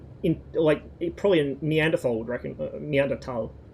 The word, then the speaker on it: Neanderthal: Neanderthal. Don't pronounce the H because it's German.